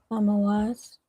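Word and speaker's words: Tammuz: Tamoaz.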